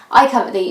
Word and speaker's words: I Covet Thee: decision because I think still some people struggle to pronounce it. I cover the if you're wondering is how you say it.